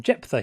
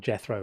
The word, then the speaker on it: Jephthah: And rather than saying Jephthah, he kept on saying Jethro.